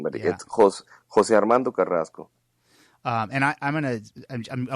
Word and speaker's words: Carrasco: but justice abbreviating but it was Jose Armando Carrasco and I I'm gonna I want to use